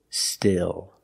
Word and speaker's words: still: it has two meanings the pronunciation is more open still still and the second word